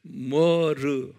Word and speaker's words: myrrh: 그것을 이제 영어로 머르, 머르라고 발음해요.